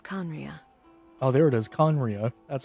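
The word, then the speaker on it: Khaenri'ah: fallen kingdom of conria oh there it is conriya that's how it's pronounced huh that's kind of weird hey where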